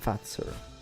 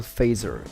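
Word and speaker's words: Fazer: phaser dark chocolate or Carl Carl fater as the guy is actually known Carl fatzer or Carl phaser as I would pronounce him in English dude that dark chocolate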